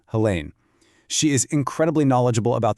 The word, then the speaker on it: Helene: Her name is Helene Matthews, and just so you know, it's pronounced Helene.